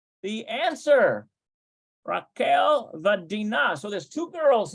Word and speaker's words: רחל: It's Raquel, not Raka. No, it's Raquel. Rachel.